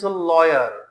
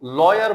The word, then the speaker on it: lawyer: The next word is लॉयर। That is very much important word, लॉयर, LAWYER। याद रखें, इसको लॉयर बोलते हैं, ना कि लायर।